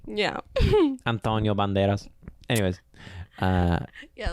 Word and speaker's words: Antonio Banderas: Banderas that's how you say his name yeah Antonio Banderas anyways uh yeah like if you saw like